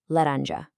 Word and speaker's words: laranja: So, applying everything we've learned so far, we've got our soft, tapped R, our nasal uh, and our soft zh, laranja.